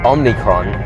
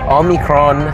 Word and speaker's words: omicron: dominate so it's good they don't call it omnicron which a lot of people are pronouncing because omni kind of means everywhere so omicron um who knows if